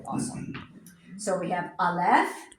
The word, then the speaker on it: Aleph: So we have Aleph, Aleph. is silent, Silent.